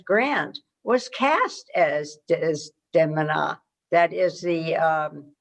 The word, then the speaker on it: Desdemona: the diminutive ulysses s grant was cast as des demina that is the correct pronunciation not desdemona as we had been raised it's desdemona in